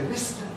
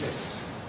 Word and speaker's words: missed: the radio, on BBC, they say missed or missed as the past tense of miss. But it isn't. is missed. Laugh gives us laughed.